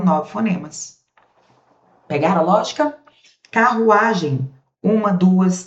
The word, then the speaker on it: carruagem: No final, o am, eles puxam um izinho semivogal no final. Carruagem I, tá vendo, ó?